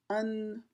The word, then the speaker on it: 恩: It is pronounced un.